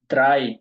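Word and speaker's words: drei: এরকম শুরুতে আসে ছয় দ্রাই এই দেখেন আমরা পড়ছিলাম না আই ই যদি একরকরটা থাকে উচ্চারণ হবে কি এর মত আই এর মত এজন্য হইছে কি দ্রাই ভাইয়া ডিসপ্লে একটু বড়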